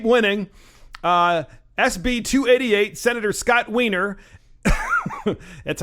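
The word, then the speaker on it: Wiener: California you keep winning SB 288 Senator Scott Weiner that's how you pronounce it is pushing his bill that allows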